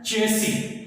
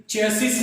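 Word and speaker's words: chassis: अगला है चेसी। चेसिस नहीं है, ये चेसिस नहीं है, ये है चेसी। यहां पर भी वही रूल लागू होता है, एंड में एस और इससे पहले आई है।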